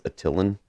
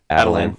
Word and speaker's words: Attilan: And he is fiercely loyal to the inhuman royal family of, I think you pronounce it as Attilan, or maybe Adelan.